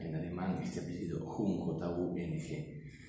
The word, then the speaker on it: Jung: que hay un vínculo en calcuta así se pronuncia en este apellido ing y el vínculo está dado por el inconsciente